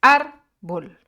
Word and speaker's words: árbol: Porque su acento, su sílaba tónica, se encuentra en la penúltima sílaba, que es árbol.